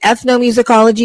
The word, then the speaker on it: ethnomusicology: it's not just ethnos, but it's is it ethnomusicology? Is that how you pronounce it?